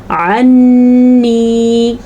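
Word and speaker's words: عني: عنی، عین کے تلفظ کا دھیان رکھنا ہے اور نون کے غنّے کو اچھے طریقے سے ادا کرنا ہے.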